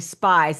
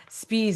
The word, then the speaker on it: Spies: Everybody says spies. I don't even hear it. Yeah. And I'm like, oh my gosh. But for me, it's like, Dana, you did it again. It's like I'm notorious for mispronunciating last names. I mean, it just must be my curse of this life. It's like, I did it again. Spies instead of spies.